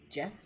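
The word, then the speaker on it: Geoff: that's how you say his name his name is spelled g-e-o-f f jeff g-e-o-f-f maybe june ends state of play sonia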